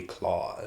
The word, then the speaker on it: Klaus: Either way, it's supposed to be like Santa Claus, but it's spelled with a K.